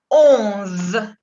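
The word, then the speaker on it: onze: 11. Il se prononce hasta la Z. 11. La ON es on. On. Con una O muy cerrada y que viene acá de arriba, la nariz.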